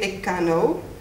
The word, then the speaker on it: echano: So in an expression, so you say ekano. You write it echano. Should it be one word? Should it be two words? They're saying here, yes, it should be one word because of this pronunciation change. You say echano, for them it's one word.